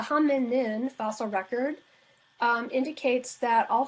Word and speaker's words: hominin: people okay um so the hominin we're missing a syllable the ham and nin fossil record indicates that